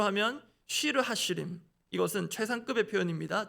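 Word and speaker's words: שיר השירים: 그래서 오늘 본문으로 와서 아가이 아가로 번역된 히브리 원문을 히브리 문법에 따르면 한글로는 노래들 중의 노래 영어로는 브성즈 히브리어 발음대로 하면 쉬르하시림 이것은 최상급의 표현입니다.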